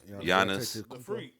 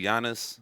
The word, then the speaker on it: Giannis: giannis is a beast can you say his name yeah what's his name giannis say it again okay what you say the freak say his name i did say janice the freak so he can't say it giannis antetokounmpo put some respect on his name shout out to all